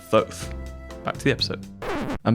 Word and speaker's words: Thoth: So it's actually pronounced Thoth.